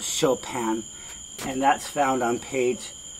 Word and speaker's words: Chopin: chopin now i know her name looks like it says choppin but you pronounce it chopin and that's found on